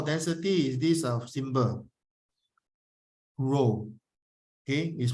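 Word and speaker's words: ρ: the symbol for density is this a symbol row okay is pronounced as to row okay density is equal to mass over volume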